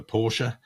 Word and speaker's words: Porsche: instance we do a lot of recruit for Porsche um that's how you say it because that's